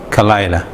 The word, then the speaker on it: Khalaila: A lot of people, they write it with the KH simply because there is no Kha in English. So they say Khalaila, and if you have problem pronouncing that, you can try Delilah, but with the K instead.